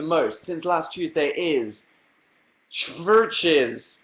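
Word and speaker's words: Chvrches: since last Tuesday is churches which is churches with a V churches spelled with a V instead of a u are a a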